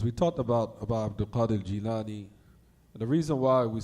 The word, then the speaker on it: al-Jilani: They call him Jalani. They say here in America, Jalani. The correct way to pronounce it is al-Jilani, because he was from the town called Jilan.